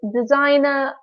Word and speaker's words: designer: a reporter a receptionist designer police officer photographer and nurse and don't forget about the silent G in the word designer and the F sound